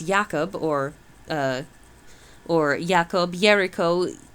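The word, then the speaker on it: Jacob: 1522 transferred into English the German J which has the sound of I or Y intending us to pronounce yakob or uh or ycob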